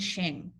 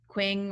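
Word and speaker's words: Qing: just a little fyi the q and the i in chinese is pronounced so ming and shing okay um you guys if you guys in class make a comment about quing or anything that'll be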